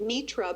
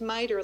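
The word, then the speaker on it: MITRE: I kept calling it me ra but it's actually pronounced miter like lighter with an M uh and they're based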